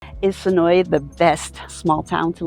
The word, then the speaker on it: Senoia: Locals pronounce it Senoia. I know I keep wanting to pronounce it Senoia as well, but if you want to live here and fit in as a local, it's Senoia.